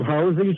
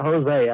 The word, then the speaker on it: Hosea: And Hosey liked his name called Hosey Stout, not Hosea or Hosey or whoever. It's a real weird pronunciation, but it was Hosey Stout.